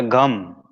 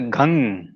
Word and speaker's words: Gam: It's not a gum, it's a ghang.